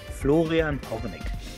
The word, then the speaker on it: Florian Hornig: So every time that I was called out at the high school, like Flor, so my, if you pronounce German, it's Florian Hornig, but that's impossible for American.